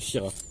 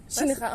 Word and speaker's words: Shinra: C'est ton nom officiel, Shira. Ouais. C'est Mais comme. les N aussi se prononcer en japonais. Oui, je sais pas pourquoi. Bon, tu n'es pas Shinra. Shinra. En fait, il faudrait dire Shinra.